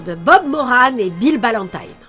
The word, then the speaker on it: Ballantine: Nous suivons donc les aventures de Bob Moran et Bill Ballantine. Oui, c'est Tyne, pas Tine comme dans la chanson d'Indochine. La narration le précise, ça se prononce comme ça parce que Bill Ballantine est écossais.